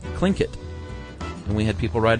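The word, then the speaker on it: Tlingit: remember the Tinget Indians that we were trying to pronounce? Apparently, it's pronounced clinkit and we had people write in from Alaska, Matthew.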